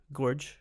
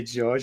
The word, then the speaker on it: Gorge: Gorge? It's Gorge. Gorge. Now, when you get into that character, what's that? Sorry, a lot of people say George, and I love it when they make that mistake.